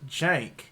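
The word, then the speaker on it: Cenk: His name, he's Turkish, it's Jank. Like, dude, don't be that asshole. It's Jank. It's spelled with a C, but it sounds like a J.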